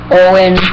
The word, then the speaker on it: Eoin: His channel is everything all year round space Shay, or you can just look up Owen 483. That's spelled EOIN 483.